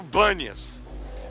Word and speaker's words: Bânias: Já receberam a explicação de que o nome é Pan, mas ficou com B porque os árabes não pronunciam bem o P, então virou Bânias.